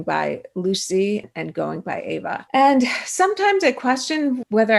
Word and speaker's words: Ava: And Ava is one of them, except the Farsi pronunciation is Ava.